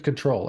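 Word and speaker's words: kubectl: okay um and two can we just say that cuddle is the official pronunciation and be done with it come on dude that's crazy talk it's control everybody knows that I I eventually switch sides I used to be team control but uh I've given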